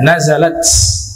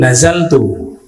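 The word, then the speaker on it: نزلت: nah di situu jiwari itu bacanya nazalat Padahal di sini sudah tertulis yang betul nazaltu bukan nazalat nazaltu kemarin kita bacanya nazalat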